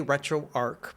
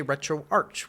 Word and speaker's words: RetroArch: me in English so I think of it like words like monarch and patriarch that have the a